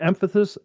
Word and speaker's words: emphasis: They put a lot of emphasis. See, I did it again. Emphasis. There, it's not such a hard word. No, but on one player. But you're putting the emphasis on the wrong syllable.